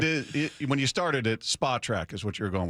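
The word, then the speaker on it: Spotrac: Is it spo track or spa track? That's the uh spa track is the preferred, but after 20 years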